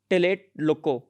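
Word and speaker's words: Tlatelolco: one is treaty of tillet loco i think tea is silent there so late loco lo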